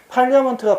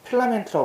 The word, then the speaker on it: Parliament: 영국 국회는 Parliament를 쓰는 것이고, 발음이 어떻게 된다고? Parliament. 근데 이걸 갖다가 담배 이름이기 때문에 필라멘트라고 발음하는 애들이 많아. 근데 필라멘트는 틀린 표현이고 어떻게 쓴다고? Parliament 이렇게 발음해야지 올바른 표현이라고. 알겠어?